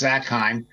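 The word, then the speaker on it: Zakheim: me by the way my name is pronounced zackheim um and regarding 911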